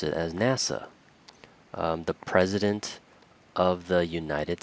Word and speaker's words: NASA: space administration instead of saying the nasa we pronounce it as nasa the president of the united states again instead